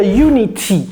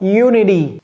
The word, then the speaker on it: unity: 2ème cas de figure oui vous pouvez dire Unity Unity comme un Truy également vous pouvez dire Unity hein mais les Américains dans la vaste majorité des cas vont dire quoi Unity Unity et ici c'est d d d c'est pas un D c'est pas un